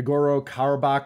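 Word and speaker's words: Nagorno-Karabakh: it was in the I believe in the ngoro kabach region I'm probably mispronouncing that like crazy no that's right yep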